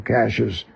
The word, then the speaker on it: Cashiers: And it was that way for about 25 years, and then the pronunciation stayed the same, Cachers, even though it was spelled properly, Chashiers.